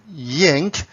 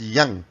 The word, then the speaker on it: yang: Some people pronounce it as yang. It's up to you, but in the original Chinese pronunciation it's pronounced as yang.